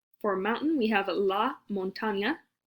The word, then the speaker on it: montaña: For mountain, we have la montaña. Remember that N with the squiggle? It's its own letter in Spanish.